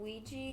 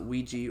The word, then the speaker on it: Ouija: I mean, people pronounce it Ouija or Ouija, but it's oui, ja for a French yes and German yes.